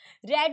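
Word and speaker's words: read: यू बनेगा रेड होगा ये स्पेलिंग सेम रहती है लेकिन प्रोनंसिएशन इसकी अलग होती है रेड होगा यहां पर आर ई ए डी हुही होती है लेकिन पढ़ा रेड जाएगा क्योंकि थर्ड फॉर्म है यहां पर क्या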